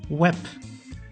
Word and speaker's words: web: which is my name there are some words that end on a bay which is then pronounced like a pay per like web same meaning as in english i will use the